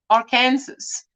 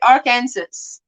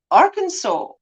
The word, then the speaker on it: Arkansas: arkansas i i always thought you would say our kansas like in kansas and then you get arkansas but apparently not apparently you appre you pronounce it arkansas arkansas i try my best cut yard barf